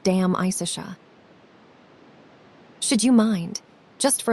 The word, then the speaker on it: De Amicitia: We have finished Livy and De Senectute, and are now engaged with De Amicitia, pronounced Dam Isicia.